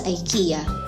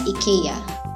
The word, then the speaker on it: IKEA: People in the USA and the UK pronounce it as Ikea. Pero sa Sweden kung saan nag-originate ang brand na to, they say it as Ikea. So if you're using British or American English, call it Ikea. Pero kung gusto mo namang mag-sound authentic and original, you can say Ikea like how the Swedish pronounce it.